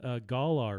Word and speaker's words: Galar: How do you pronounce that? Galar region.